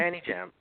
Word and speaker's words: Anijam: Am I pronouncing that right? Anijam animation? Yeah, Anijam.